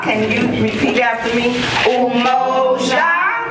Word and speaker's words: Umoja: It's called Umoja. Can you repeat after me? Umoja. Umoja. Anybody spell it?